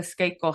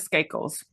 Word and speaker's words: Skakel: I think it's Skakel.